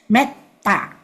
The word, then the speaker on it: mettā: the top current meta we don't say meta although the e is usually drag but when it is before two consonants the t double t so it become become a short e meta meta ah just like the